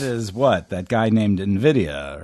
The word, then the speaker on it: Nvidia: I said Nidia because it's spelled Nvi Dia A. So I was like, okay, Nvidia. And then I looked it up and it was like it's pronounced Nvidia.